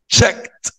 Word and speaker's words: checked: Checked. Checked يعني كروهات مربعات كده. Checked. Checked. الإي دي بتتنطق تي.